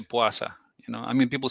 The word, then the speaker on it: puasa: So the word puasa, would one ever hear one say puasa, or was it just puasa? I see you looking at how it's spelled, yeah. But I've only ever heard people say puasa.